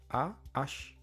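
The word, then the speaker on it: aho: Mais la prononciation dans la vie de tous les jours c'est a tout simplement. C'est comme si le ho à la fin n'existe pas. Mais si vous prononcez bien aussi le H O en disant ah, c'est pas faux non plus.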